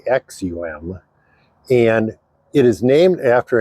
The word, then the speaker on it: Aksum: and that is spelled AK KSU M it's pronounced axum and it is named after an ancient civilization